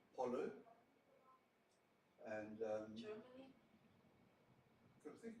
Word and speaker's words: pollo: Italian is pronouncing the L, pollo, and Germany?